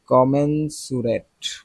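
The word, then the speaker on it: commensurate: গোপন আতাতে কাজ করছে আসলে কি work in collision to fix prices and cheat কাস্টমারস কমেনসুরেট। কমেন্সুরেট সমানুপাতিক কমেন্ট প্রপোরশোনালটাই আমরা কমনলি ইউজ করি তাও এটা উচ্চারণ দেখি কমেন্স আজকের যে ওয়ার্ডগুলাই পড়তেছে উচ্চারণগুলা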